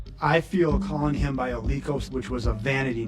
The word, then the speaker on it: Olykos: The name that I go by is Olikos. How do you spell it?